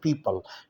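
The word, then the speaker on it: people: है या स्टूडेंट है पीपल पीपल में ओ साइलेंट है अच्छी अजीब का मतलब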